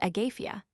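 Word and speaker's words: Агафья: Greece has transmitted it to Russia where the th not being pronouncable. It is called Agafia and the masculine which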